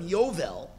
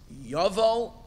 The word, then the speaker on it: Yuval: we don't call them Yeovil it's neither it's not the pronunciation of Yeovil it's you've all and you've all ok and then we